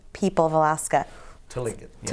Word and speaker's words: Tlingit: What else do we know about, and they're the Tlingit people of Alaska? Tlingit. Yes. Tlingit. Okay, it's a hard word to pronounce.